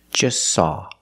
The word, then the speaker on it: just: eat or just saw we see the t is between consonants so don't pronounce it it's silent just saw you link the S with the S link them together just saw just saw